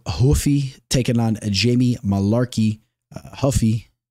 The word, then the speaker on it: Ruffy: on Jamie Malarkey Huffy you know I desperately want to call him ruffy but uh we can't do that you guys are always giving me hell about my pronunciation so I got to put that Brazilian uh that Portuguese kind of accent on it Macio Huffy